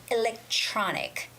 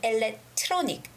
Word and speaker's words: electronic: t and then r now when the t and r are linked together the sound is very similar to the ch sound you know the ca sound in the word cheese or chocolate okay so rather than saying electronic electronic more of that thick t sound it's better to say electronic electronic can you tell